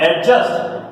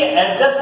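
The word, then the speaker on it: adjust: कहूं, मैंने लिखा ये, अब इसको कई लोग बोलते हैं एडजस्ट। क्या बोलते हैं इसको? एडजस्ट, जबकि एडजस्ट नहीं होता, एडजस्ट। क्या होता है ये? एडजस्ट। यहां पर ये डी का प्रोनाउंसिएशन नहीं होता है, यहां पर ये डी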